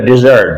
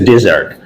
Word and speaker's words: desert: So and DEACRT, when it is used as a noun, is pronounced desert. But when D-E-A-C-R-T, desert, is pronounced desert, D-E-A-C-R-T, then it's a verb.